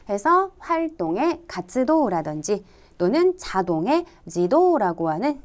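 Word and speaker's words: 自動: 노라고 읽었죠. 해서 활동의 가츠도라든지 또는 자동의 지도라고 하는 자 이러한 한자들도 꼭 확인해 주셔야 되겠습니다.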